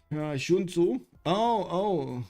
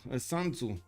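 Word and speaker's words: Sun Tzu: Shun Tzu. San Tzu. You mean I need to pronounce this San Tzu?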